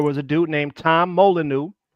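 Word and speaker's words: Molineux: There was a dude named There was a dude named Tom Molyu. It's spelled with the French way. M O L I N E U X I believe he fought in the early 1800s.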